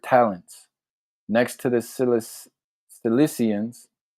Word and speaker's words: Cissians: Next to the Silis Cissians sounds like Sicily, but it's spelled different.